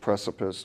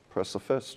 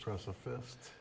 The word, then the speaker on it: Preciphist: It was already taken, so we made up a word basically, and just changed precipice to Preciphist. Preciphist.